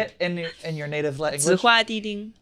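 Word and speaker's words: 紫花地丁: Zihua Di Ding.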